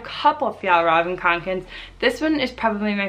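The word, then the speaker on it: Kånken: how to say it it is theol robin konkin say it with me theol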